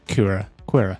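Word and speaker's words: Qi'ra: doing that because uh we do see Kur quira yeah that's how you pronounce her name yeah you know Kur yeah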